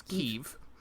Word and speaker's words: Kyiv: But I believe the local pronunciation of the capital of Ukraine is Kyiv.